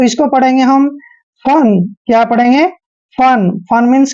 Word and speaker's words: fun: जब दो कॉन्सोनेंट के बीच में यू आता है तो यू का उच्चारण ए करते हैं। तो इसको पढ़ेंगे हम फन।